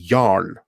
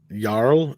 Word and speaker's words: Jarl: He is the Jarl of Midnight's Edge. Jarl, by the way, is the original Norse version of the noble title Earl. Jarl?